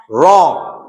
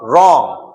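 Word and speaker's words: wrong: तो हमने क्या किया? नाक में और गले में रोक लिया उस साउंड को। ग का जो साउंड है उसको हमने क्या कर दिया? रोक दिया, और साथ में न का साउंड नाक में लाके छोड़ दिया।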